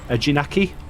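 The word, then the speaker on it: Eejanaika: Brady P says, "Why do you guys think there aren't any more 4D coasters like X2 or can't pronounce that? Ejinaki?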